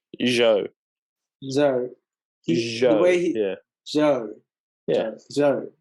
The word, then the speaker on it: Zhou: like he was talking about how this like Zoe is sorry, how do you say his last name? Joe.